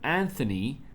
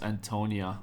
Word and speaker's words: Antonia: But Anthony, I just realized I've been saying his name wrong. It's Antonia.